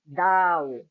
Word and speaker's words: Tao: We can pronounce it as Tao, D-O-W.